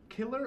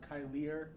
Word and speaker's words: Kyler: And, Killer Assassin? It's pronounced Kyler Assassin.